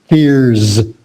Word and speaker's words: fears: And so that S turns into a Z too. Fears.